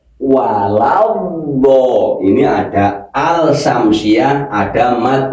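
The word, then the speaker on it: ولا الضالين: Sirathalladzina an'amta alaihim ghairil maghdubi alaihim waladin walad ini ada yang walabad bedd ada lagi walad ada yang lagi wal nah ini yang benar yang mana bukan yang benar yang Pas kan ini hurufnya d waladho ini ada alsamsiah ada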